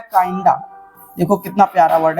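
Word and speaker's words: kinda: अब next word हमारे पास में दिया गया है काइंडा।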